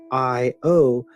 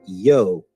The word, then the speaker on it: io: The interjection I-O is pronounced either with two syllables, I-O, or a single syllable with the I becoming and pronounced yo, J-O or yo.